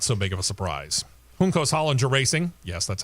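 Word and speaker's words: Juncos Hollinger: to be not so big of a surprise hos Hollander racing yes that's how you say it has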